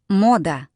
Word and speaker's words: Мода: Emphasis goes here on the O. Мода.